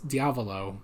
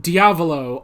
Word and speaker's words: Diavolo: like a bit but diavolo obviously sounds more like Diablo which is probably which